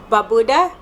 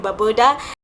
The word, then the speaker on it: Barbuda: a visa and that is antigua antigua and barbuda buddha antigua and barbuda i believe that that's how you say it antigua and baboda antigua and barbuda whichever way it's said but